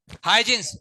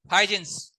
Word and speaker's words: Huygens: हाइजेंस, HUYGENS ऐसे pronounce करते हैं इसे, हाइजेंस।